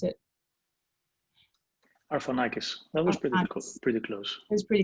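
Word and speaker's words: Arfanakis: you pronounce your last name vasantinos i always mispronounce it arfanikis that was pretty cool pretty close it was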